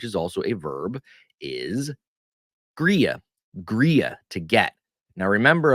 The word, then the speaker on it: griege: D that second G when you have a g that falls between two vowels in Pennsylvania dutch it takes a y sound so we don't say griga we say gria uh YY gria gria